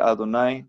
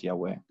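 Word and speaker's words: Yahvé: ya ve a tonight ustedes pueden escoger como quieren pronunciar el nombre divino si quieren decir adonay como lo hacen los judíos está bien si lo quieren decir ya ve o ya ve o jehová me está bien ustedes pueden decir nosotros en los vídeos decimos ya ve porque es el nombre de más en la pronunciación más aceptada en el mundo vamos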